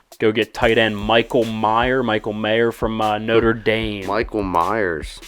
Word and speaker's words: Mayer: Is it Michael Mayer or Michael Mayer? It's Mayer. Is it Mayer? Yeah. Well, we're going to go Michael Mayer then. I guess it is kind of spelled like John Mayer.